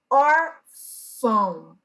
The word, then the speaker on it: órfão: E olha aí, embora nessa palavra nós tenhamos aqui no órfão duas vogais marcadas, ela é uma paroxítona ou um paroxítono, porque a sílaba falada com maior intensidade mais forte é o or. Órfão, certo? E esse tio aqui está nasalizando o A.